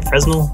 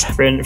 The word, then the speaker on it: Fresnel: the Fresnel as well as I say a Fresnel it is not friend for now you're saying it weird but you're pronouncing it right for the help yeah